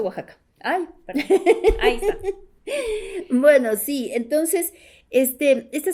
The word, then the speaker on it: Oaxaca: méxico de oaxaca verdad de oaxaca se pronuncia oaxaca bueno si entonces éste